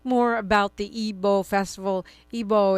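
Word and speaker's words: Igbo: Ebo is spelled I GB O.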